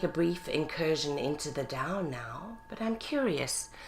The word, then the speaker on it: Tao: happiness so the Dow is spelled t AO pronounced Dow or spelled e o w and let's take